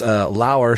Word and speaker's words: Lauer: It's the Batman Book Club, hosted by Ryan Lauer, spelled like lower.